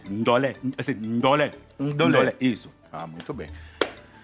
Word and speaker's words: Ndolé: Eu vou querer o tradicional e lembrando, gente, que o nome é andolé. Eu fico falando andolé porque eu ainda não peguei a pronúncia correta, mas a pronúncia correta é andolé. Ndolé.